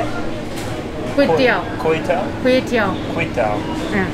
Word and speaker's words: kuey teow: Kuey Teow?